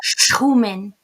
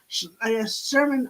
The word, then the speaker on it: Schumann: You gotta get your German, and I should because I'm German, so I should be able to say it properly. But I Uh-oh. think my English comes in there too Hmm, much, hmm. and my Irish kind of kicks in and says, Sherman, Irish, German, Sherman."